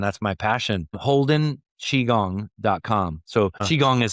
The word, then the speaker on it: qigong: So chiong is spelled q i g o n g olden chiong.